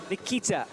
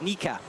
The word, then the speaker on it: Nika: Nikita. She gets going. And on the right, Belgium athlete, Simon Lorenzi. I'm sorry, I specifically was asked not to say her name like that. It's Nika. Nika Potapova.